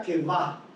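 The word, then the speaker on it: קוה: Esa palabra hebrea se pronuncia kevá. Kevá.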